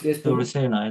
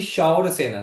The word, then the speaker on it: Shaurasena: Yes, Surasena, isn't it? Correct. Shaurasena. It's actually Shaurasena.